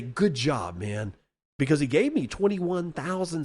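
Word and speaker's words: Mow: name incorrectly multiple times in the past it's pronounced ma the same as ma Zedong you are now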